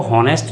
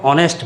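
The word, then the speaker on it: honest: इसमें जो है ऑनेस्ट में जो एच है, एच को हम प्रोनाउंस नहीं कर रहे हैं, हम इसको हॉनेस्ट नहीं पढ़ते हैं, इसको हम ऑनेस्ट पढ़ते हैं।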